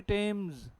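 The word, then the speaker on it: Thames: तो क्या लिखा अभी, टेम्स।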